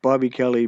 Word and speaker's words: Bob E. Kelly: It's pronounced Bobby Kelly, but it's spelled Bob space E period space Kelly.